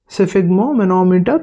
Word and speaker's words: sphygmomanometer: इसका प्रोनाउंसिएशन होगा सिफिग्मो, सिफिग्मो, सिफिग्मो मैनोमीटर, सिफिग्मो मैनोमीटर, सिफिग्मो मैनोमीटर, सिफिग्मो मैनोमीटर।